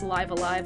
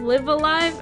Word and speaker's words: Live A Live: at five different characters it's not live a live live alive I'm like dude everyone in the chat to start going pronounce it this way seven different ones yeah Wikipedia it's yeah it's a tie boo a tie boo so it's it's pronounced live alive just so y'all know